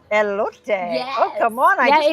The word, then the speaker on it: elote: And then she said it and I went, how do you pronounce it? Elote. Eloote.